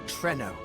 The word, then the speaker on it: Treno: Now, welcome to Treno. That's how it's pronounced? Always read as Trino.